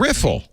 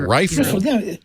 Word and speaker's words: riffle: audiobooks have been like an eye-opening riffle right not rifle rifle i don't know this